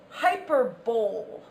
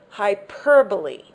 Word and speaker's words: hyperbole: This word looks like it's pronounced hyperbole, but really it's pronounced hyperbole.